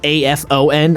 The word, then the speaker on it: Afon: It's spelled A-F-O-N, Afon. It's pronounced very similar to Avon.